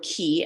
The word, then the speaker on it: Qi: And I decided to call these skills key skills, spelled QI. The fact that it sounds like the word key, as in K-E-Y, was intentional, since these skills certainly represent a key to future success.